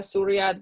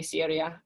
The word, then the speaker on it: Syria: the beginning syria syria surya this is technically the y here is the greek letter upsilon so surya is how